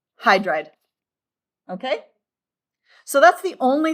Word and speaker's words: hydride: Hydrogen does not become hydrogide because we have hydra, O, gen. So just the first syllable, hydride.